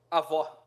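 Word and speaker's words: avó: Ao.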